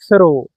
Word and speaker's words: through: Through. THROUGH. So TH sometimes can be pronounced as ምላሳችሁን ወጣ አርጋችሁ ነው የምትሉት እንጂ